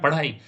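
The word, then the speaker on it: PadhAI: पढ़ाई की अगर बात करें इसको बोला जाता है पढ़ एआई, बट यूं इसका प्रोनाउंसिएशन है पढ़ाई।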